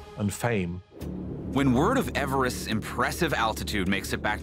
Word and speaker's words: Everest: after my predecessor sir george everest so george everest as he apparently pronounced his name actually rather objected to this